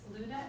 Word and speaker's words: Luda: it might be a little bit difficult to pronounce. For short, it's Luda, L-U-D-A.